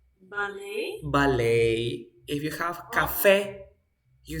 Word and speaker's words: ballet: if you have for example you say ballet ballet if you have Cafe you say Cafe if